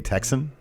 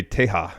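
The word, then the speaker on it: Tejas: And if you're not in practice for saying El Ingobernable de Texan. Well, it'd be El Ingobernable de Teja.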